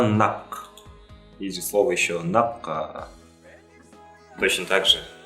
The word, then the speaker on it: нақ: Точно так же Адам Альбертович произносит его как нак, то есть переднюю букву произносит к. На самом деле буква А, И, буквы заднего ряда, звуки заднего ряда, и соответственно буква К заднего ряда.